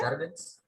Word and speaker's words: jargon: जागन, जागन, ऐसे नहीं आना, जागन, ओके? Ma'am, जागन, can you spell it? JARGN, जागन से प्लूरल है, जागन. Jargon. I They think were can you using the spell it? jargon which was not able to understand. yes, yes, it's jargon, JARGON, jargon, okay?